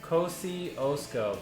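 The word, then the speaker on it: Kościuszko: Kosciuszko? Kosciuszko. Kosciuszko. Okay. Kosciuszko. I slaughtered that one. I wanted to pronounce the Z.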